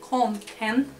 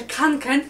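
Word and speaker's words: Kånken: Konken, taki piękny plecak, właśnie tak mówi się, wymawia się Konken, a z kropką po szwedzku to jest o, Konken, bo jak ja słyszę Kanken, to mnie takie, co, Kankena.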